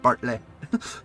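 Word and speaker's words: Bartleh: Literally the H is there just to make sure you pronounce it Bartley.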